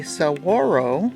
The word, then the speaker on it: saguaro: increased diversity of nearby species apartment living the saguaro that's how you pronounce it cactus in front of you is